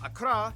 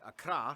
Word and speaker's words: Accra: ho and tamale and of course the capital akra yes that's how you pronounce it akra located in the southeast along the coast the